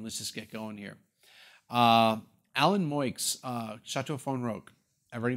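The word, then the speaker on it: Alain: name sounds familiar, but it's not Alan or Elaine. They pronounce it Alan, but it's spelled A-L-A-I-N.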